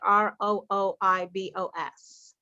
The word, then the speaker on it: Rooibos: I don't think the final S is pronounced. Rooibos.